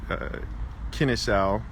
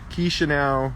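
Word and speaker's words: Chișinău: Kris Cantu, and I'm reporting to you live from here in Kinnisau. Can never say it right. Chisinau, Moldova. That's how you say it.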